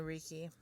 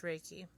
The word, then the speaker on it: Reiki: I keep saying Reiki. It's Reiki. I keep saying it wrong because it reads that way.